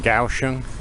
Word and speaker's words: Kaohsiung: Like I said, I'm going to go clockwise around the island starting in Kaohsiung. I've said Kaohsiung quite a few times recently cuz I forget the K is pronounced as a G.